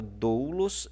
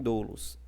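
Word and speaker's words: δοῦλος: E você tem também, como na palavra doulos e na palavra pneuma, o acento circunflexo trabalhando, né, como estando na penúltima sílaba. Na penúltima sílaba. Lembrando, ó, que em doulos ele está na penúltima sílaba.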